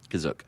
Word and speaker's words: Kashyyyk: Kashyyyk. Kashyyyk. Um It's like ketchup.